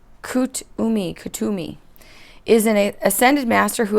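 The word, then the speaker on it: Kuthumi: Okay, Katumi is pronounced Kutumi, is an ascended master who appears as a well-dressed Indian man with a golden aura.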